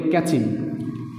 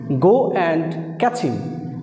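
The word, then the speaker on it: catch him: আছে, ক্যাচ এবং হিম, ওরা এই দুইটাকে একসাথে করে ফেলে, তারা উচ্চারণ করে ক্যাচিম, ক্যাচিম, ক্যাচিম, ক্যাচিম, গো অ্যান্ড ক্যাচিম, গো অ্যান্ড ক্যাচিম, গো অ্যান্ড ক্যাচিম।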